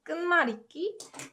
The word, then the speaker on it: 끝말잇기: And then this 시읒, this ut sound, when combined with 그, it provides more emphasis on the following consonant, so it becomes 끄. So that's how it's pronounced. 끝말잇기, and it means word chain.